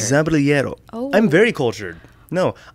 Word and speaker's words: Zaballero: Say it with the accent again. Zaballero. Zaballero. Zaballero. Oh my goodness, you are uncultured. Zaballero.